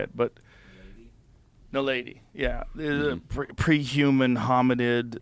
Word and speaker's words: naledi: It was Homo ninaldi. What was it? You remember that? I can't remember how to say it, but... Naledi, yeah.